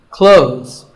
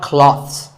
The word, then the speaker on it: clothes: Clothes. But what's silent here? Well, first of all, this word is not cloths. When we say clothes, the TH in the middle can often be silent. Clothes.